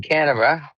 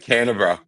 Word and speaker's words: Canberra: We beat Queensland in Canberra, and with a late try, and it was disallowed.